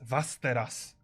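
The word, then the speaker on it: Västerås: The sixth place is Vasteras. Vasteras. Beautiful. Guys, help me with pronunciation. Do we have any Swedes on our chat? In our chat? Nah. Someone said Westeros. Okay. It is actually a Westeros. Vesteros, Okay.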